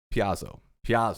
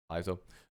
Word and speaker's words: Paizo: So Piazzo, right? How you pronounce it? Paizo.